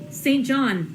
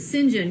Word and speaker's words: St. John: But in my head, every time I see it printed there, I think to myself, St. John, but pronounce it St. John, because that's the British pronunciation, which I don't know